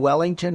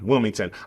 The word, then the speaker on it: Wilmington: But do you mean Wellington or Wilmington? Wilmington. I say it wrong because I just paid to have the horses moved, so it's a little traumatic for me.